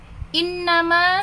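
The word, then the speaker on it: إنما: fi di al ardi bumi qolu mereka berkata inna sesungguhnya hanyalah e inna sesungguhnya ma apa yang nah ini kalau digabung menjadi sesungguhnya hanyalah jadi membacanya langsung digabung innama sesungguhnya hanyalah nahnu kami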